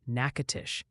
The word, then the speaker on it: Natchitoches: Multiple people insist Natchitoches is pronounced Natchitoches, and please, for the love of weather, it's Shaker Heights, Ohio, like a salt shaker, not a shark attack.